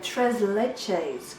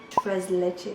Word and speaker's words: tres leches: I believe it's called a Tres Leches cake. Tres Leches.